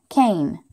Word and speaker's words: cane: When there are 2 vowels in a word, the first vowel says its long sound, and the second vowel is silent. We mark it with a stick, and then we cross out the second one so we don't say that letter.